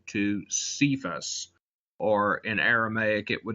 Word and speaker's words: Cephas: According to the Gospel of John, when Jesus met Simon, the brother of Andrew, he changed his name to Cephas, or in Aramaic it would have been pronounced Kepha.